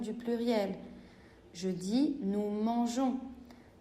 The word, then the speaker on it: mangeons: Je dis nous mangeons. Si je supprimais le E, je devrais prononcer nous mangons.